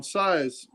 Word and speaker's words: Saiz: And for the artist, I'm going to go with Jesus Saiz. S-A-I-Z. How are we going to pronounce that?